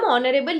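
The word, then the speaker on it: honorable: जबकि ऑनरेबल start तो एच से होता है। फिर भी हम उसके आगे लगाते हैं एन। क्यों? क्योंकि ऑनरेबल एज अ वर्ड की जो प्रोनंसिएशन है जितने भी डायलक्ट्स उसकी प्रोनंसिएशन को हमने एक्सेप्ट किया है अल्टीमेटली वो है ऑनरेबल ऑनरेबल that is व्हाई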